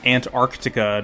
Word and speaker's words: Antarctica: In Antarctica, yes, it's pronounced Antarctica. Don't forget the first C.